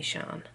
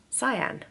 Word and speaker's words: Sian: said that out loud, my name is pronounced Cyan. It is spelt like Shan, but it doesn't have the little accent above the A. Lots of people see my name and assume it's Shan and call me Shan, which is a perfectly innocent mistake.